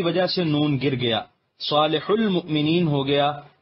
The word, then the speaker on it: صالح المؤمنین: سے نون گر گیا، صالح المؤمنین ہو گیا، لیکن یہاں واو کا تلفظ نہیں کیا جاتا، اس لیے کاتبان قرآن نے واو کی کتابت بھی ترک کر دی اور صالح